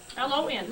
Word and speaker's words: Lon: L-O-N. Lon. Just like it sounds, yes.